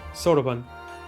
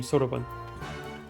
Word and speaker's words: Soraban: Sorban, that's how they pronounce his name. Sorban.